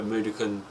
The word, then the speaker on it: Mudokon: It's made out of like a Mudokan tears.